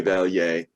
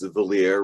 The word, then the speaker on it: Vallier: You know, you said my name in the French way, Vallier, which is perfectly fine, but in the United States, it's Vallier, rhymes with queer, and I never heard that before in my life.